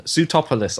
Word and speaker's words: Sootopolis: take it what was it what is the pronunciation of suit top under sootopolis I did it there you go well done